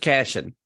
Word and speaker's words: Cashion: just Cashion.